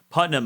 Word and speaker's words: Putnam: Small correction, it's Putnam. Putnam.